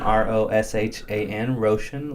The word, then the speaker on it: Roshan: oh Sh a an Roshan like ocean with an R and last name John